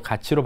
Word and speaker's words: 같이: 자, 먼저 1번을 보면 같이 걷다의 가치는 기역에 따라 티읕을 치읓으로 바꿔 가치로 발음해야겠군 이렇게 돼 있는데 가치로 발음하나?